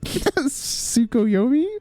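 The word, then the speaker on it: Tsukuyomi: Do you pronounce the T here? Sukoyomi.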